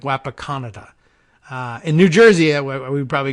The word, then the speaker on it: Wapakoneta: looks to me like he's trying to say that the town is Wapakoneta, correctly pronounced.